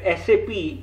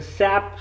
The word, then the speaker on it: SAP: We can install the SAP system. Pardon, it is not pronounced SAP, it is pronounced SAP.